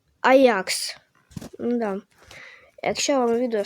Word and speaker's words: Ajax: Е, оця ш оця штучка, да, оця штучка, е-е, там буква А і Дж і А е типу считається як аджакс, але считають, можуть казати аджакс, але правильно считається Аякс.